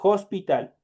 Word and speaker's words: hospital: Esta aspirada, ya saben que el momento de pronunciar es como que ahí existiera una J, por eso yo le digo hospital.